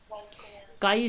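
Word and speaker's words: chi: काई square, ची square, C एच को यहाँ पे ची बोला जाता है। बेसिकली जब प्रोनाउंसिएशन किया जाता है इसको काई नाम से जाना जाता है, काई स्क्वायर।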